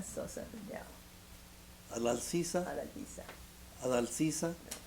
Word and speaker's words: Adaljiza: Adaljiza Sosa Riddell. Adaljiza? Adaljiza. Adaljiza? J is a J.